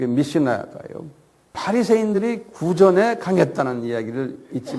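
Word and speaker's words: Mishnah: 그래서 그것을 미시나라고 그래요. 미시나. 한국말 미시나. M-I-S-H-N-A-H라고 그래요. 한번 발음해 보세요.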